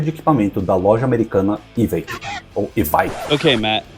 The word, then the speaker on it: Evike: equipamento da loja americana Evike ou Evike. Okay, Matt, how do you say it? Despite how it's spelled, it's pronounced EVIC.